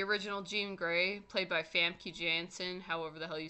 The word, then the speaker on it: Famke: The original Jean Grey, played by Famke Janssen, however the hell you say that, which I know it's spelled Famke, but it's said like Famke, because she's foreign, but whatever.